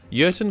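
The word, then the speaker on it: Jurten: the name of colonel yerton starts with a j but because he's german the j is silent urton got in contact with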